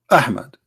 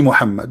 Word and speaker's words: Muhammad: name of this prophet mohammed okay hamid ie Muhammad but it is not Mohammed I mean there's a huge difference in the pronunciation he was different in